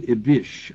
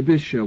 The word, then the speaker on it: Ibish: sure you'll correct it it's ibish actually ibish ibish thank you I just put the I put the uh emphasis on the wrong syllable uh Hussein is